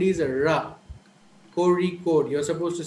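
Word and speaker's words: Kozhikode: who are not aware of this sound will pronounce it as Jose cozy code so but actually the sound is RA Corey code you're supposed to say Corey code and there's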